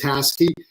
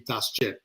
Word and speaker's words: Tasci: But I pronounce it Tasci, so yeah. I'm pretty sure you have heard many ways of I've heard it. It's actually a Turkish last name, and in Turkish it would be Tasci.